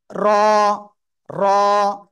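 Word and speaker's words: را: আগে সেটা হলো র জিহ্বার আঘাত তার বরাবর উপরের তালুর সাথে লাগিয়ে মোটা আওয়াজে এক আলিফ টেনে উচ্চারণ করতে হবে র র জোরে বলেন র র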